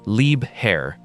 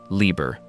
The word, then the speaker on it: Liebherr: It is pronounced Liebherr, not Lieber.